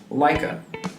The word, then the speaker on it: Laika: If Disney feels like Laika, is that how you pronounce Laika? It's Laika. Okay, well...